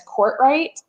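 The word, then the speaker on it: Courtright: my maiden name is court right and that was always spelled wrong and it's so simple it's court like court of law and right like not left but people spell it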